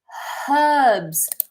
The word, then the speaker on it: herbs: And then herbs with an H. Herbs. In America, they don't pronounce the H typically.